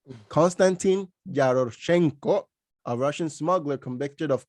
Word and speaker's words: Yaroshenko: prisoner exchange with the u.s for constantine jerosha yaroshek sorry for the pronunciation constantine yaroshenko a russian smuggler convicted of conspiring to import